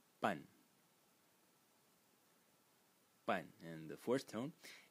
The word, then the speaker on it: 半: which is led by the Title fonetic Character pronounced pun but and the fourth tone and its meaning